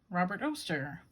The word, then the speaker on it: Robert Oster: come in a box robert oster rhymes with toaster this is cherry blossom